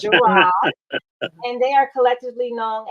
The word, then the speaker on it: Jirard: Yes, that's it, Jirard. Okay. I keep wanting to say Jared, but it's Jirard.